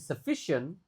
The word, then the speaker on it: sufficient: If management had provided sufficient. Nah, sufficient U-nya dibaca E.